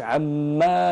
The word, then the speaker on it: عم: قوش عما يتساءلون خطا تحذف الالف في اللفظ لما ننطقها ولو نذهب الى المصحف ننظر في كلمه عم لا نجد الفا بعد الميم نجد الميم وذيلها الى اسفل يعني ليس يوجد بعدها الف فنقول عم يتساءلون من دون مد للميم لا نقول عما